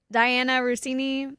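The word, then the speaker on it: Diana Russini: So, Diana Rousini, is that how you say her name?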